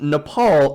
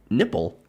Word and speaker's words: Nepal: lacking at one meeting Trump allegedly mispronounced Nepal as nipple and Bhutan as button to sources told POLITICO